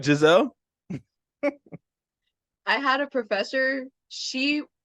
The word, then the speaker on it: Giselle: I yeah like teachers teachers have mispronounced my name calling me gazelle oh gazelle I'm sorry Giselle I had a professor